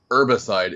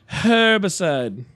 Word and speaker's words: herbicide: Some herbicide, if you will. Herbicide. I'm working with very unstable herbs. For anybody outside of the U.S., herbicide, because y'all actually pronounce the H.